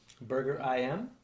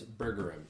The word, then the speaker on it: Burger IM: new burger place opening, Burger IM. Oh, no. You're saying it wrong. It's okay. It's Burger M. I thought it was like Burger Eam, like Burger King.